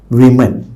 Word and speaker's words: women: So wives of men became women.